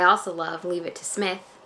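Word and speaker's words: Psmith: love leave it to Smith P Smith the p-set the P is silent and he that book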